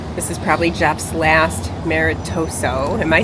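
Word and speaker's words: maritozzo: This is probably Jeff's last Maritoso.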